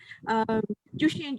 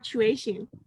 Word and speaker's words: tuition: If we make pronunciation mistake like Jushin, Jushin, Jushin, they will also pronounce Jushin, Jushin, Jushin instead of tuition.